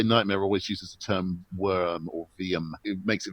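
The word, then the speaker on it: wyrm: The ancient Anglo-Saxon English word is pronounced veum. It's spelt the same way, but the pronunciation evolved down the centuries. But it is veum.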